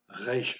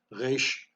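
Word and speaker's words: רֵישׁ: Resh most of the time is pronounced back of the throat. Almost like you're gargling salt water, you get a sore throat. Resh, resh.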